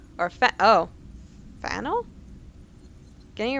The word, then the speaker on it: Faneuil: The name of this building is pronounced Fanuel. Or Fanel?